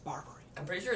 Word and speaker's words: Barbary: it nine times yet well but it's this burberry right here bart barber it's pronounced barbary i'm pretty sure it's burberry barberry burberry's an